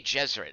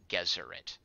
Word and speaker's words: Gesserit: Vinwraith, soft G, and Dune, too.